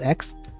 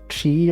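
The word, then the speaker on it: χ: Kingdom Hearts like X or something, but the X was not pronounced X. It was the Greek letter that looked like X. Chi or something.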